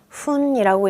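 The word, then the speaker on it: 分: 읽는 거 같아요 분은요어요 분은 요렇게 읽어요 훈이라고 읽는데요 어떤 숫자가 올 때는 뿐이 될 때도 있어요 그래서 후인지 혹은 뿐이라고 세게 읽는지 같이 한번 볼게요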